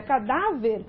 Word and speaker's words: cadáver: Agora, na palavra cadáver, a sílaba que se destacou foi a penúltima.